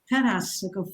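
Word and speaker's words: Tarassaco: And I'm never sure how to pronounce his name, but I'll say Tarasako, founder of Damanhur. Is that correct, Shama? Tarasako, Falco Tarasako.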